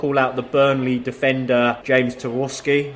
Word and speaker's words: Tarkowski: I want to call out the Burnley defender, James Tarkowski. Is that how you say it? Yep, Tarkowski, yep.